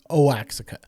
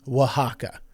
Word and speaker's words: Oaxaca: But I was pronouncing this place in Mexico as Oaxaca, and I am so sorry. I truly believe that that was the pronunciation, and that was foolish of me to just assume. It is Oaxaca.